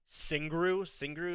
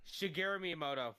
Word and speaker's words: Shigeru Miyamoto: So yeah, they the creator Singru, is that how you say it? Shigeru Miyamoto. Yeah, there you go. Shigeru, yeah, exactly what he said.